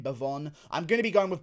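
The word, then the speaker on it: Bevon: with devon lewis here that's actually how you say his name bhavon i'm gonna be going with bavon lewis here getting the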